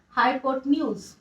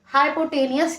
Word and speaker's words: hypotenuse: और उसको कहते हैं हाइपोटेन्यूज। बेसिकली बहुत सारे लोग, बहुत सारे बच्चे, बहुत सारे टीचर्स इसको गलत प्रोनाउंसिएट करते हैं, हाइपोटेनियस कहते हैं, but this is नॉट हाइपोटेनियस, इट इज हाइपोटेन्यूज।